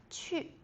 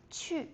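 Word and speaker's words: 去: Qu is to go. Qu. I know the Q in Pinyin sounds a bit tricky. So, it's kind of like chi, like when you pronounce in a smiley face way.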